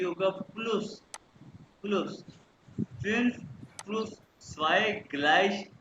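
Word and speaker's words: gleich: हैं तो ये होगा प्लुस प्लुस फिर पुस ग्लश जी ग्लश कहते हैं इक्वल को ग्लश कहते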